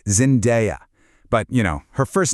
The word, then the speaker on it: Zendaya: So, one more time, the key is that day sound, Zendaya.